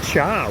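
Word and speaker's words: chó: Well, it's spelt C-H-O, and I think it's pronounced char, which is weird because char is actually what you pronounce for tea.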